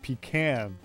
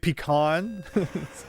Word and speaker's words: pecan: You hate it when people put an accent on the first syllable of pecan. Like pecan?